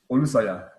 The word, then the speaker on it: Olusanya: Or what's the correct pronunciation of your surname? Is it? Yeah, Olusanya. Olusanya. Okay. Olusanya. Yeah. Olusoya.